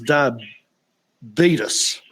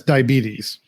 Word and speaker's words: diabetes: if you know anything about the diabetes versus diabetus. I I've never heard it referred to as di what do you say? Di diabetes. How do you say it? Diabetes. No, it's diabetes.